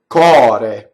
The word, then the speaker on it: core: So cɔre. So open O in this word. Okay. Now the R is flipped.